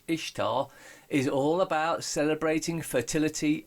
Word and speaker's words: Ishtar: This is Ishtar, pronounced Easter.